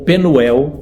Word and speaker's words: Penuel: Diz assim, aquele lugar chamou Jacó Peniel ou Penuel, como as duas pronúncias estão corretas, pois disse, vi a face de Deus e minha vida foi salva.